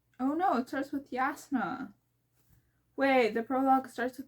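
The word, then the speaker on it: Jasnah: Kaladin is Kaladin, Dalinar is Dalinar, Navani is Navani, Yasna is Yasna, oh, Sit. I forget how he said it, but I pronounce it as Sideus because it makes sense in my head.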